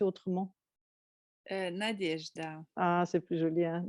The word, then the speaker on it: Nadejda: Dis-moi, ton nom, il se prononce comme ça ou il devrait se prononcer autrement? Nadejda.